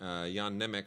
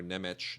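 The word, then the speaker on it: Jan Němec: Wave director Yan nech Yan nech or neich depending on how uh you choose to pronounce it uh very influential Czech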